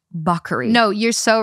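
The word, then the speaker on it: Bacari: but it's pronounced buckery.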